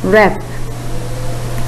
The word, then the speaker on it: wrap: Then look at these words. The first one, answer. Next, write. Next, wrap. There, the letter W is silent.